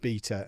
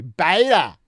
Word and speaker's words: beta: Comes after alpha, and it's pronounced beta. Unless you're American or can't think for yourself and are influenced by Americans, in which case you'll say ba, it's beta. It's always been beta, you silly goose.